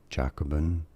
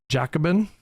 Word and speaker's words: Jacobin: Jacobin. Jacobin. Jacobin.